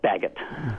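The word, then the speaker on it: Baggett: Uh Baguette, you say Baguette, right? Yeah, Bagot.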